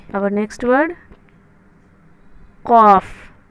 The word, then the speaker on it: ک: अब जो हम लिखेंगे वो छोटी काफ है, तो छोटी काफ को हम प्रोनाउंस करेंगे ओनली फॉर काफ, हल्की ज़ुबान से कॉफ काफ बोलेंगे।